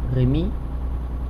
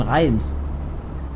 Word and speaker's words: Reims: Wir fahren jetzt nach Rimi. Heißt es, glaube ich. Weil ich glaube, damit so ausgesprochen wird. Ah nein, Reims. Ja, wir fahren nach Reims. Wenn jetzt, wir sprechen es deutsch aus, nach Reims fahren wir.